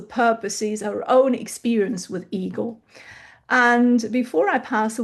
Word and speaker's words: EGLHE: I never know how to pronounce this acronym in English. I like Eagle.